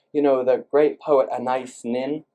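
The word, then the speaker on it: Anaïs Nin: know the great poet an nin am I pronouncing that right an nin a n a i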